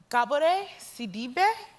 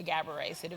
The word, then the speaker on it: Gabourey Sidibe: I'm sagales and so my name is pronounce gab CID but you're American so I'll let you say gab CID thank you it runs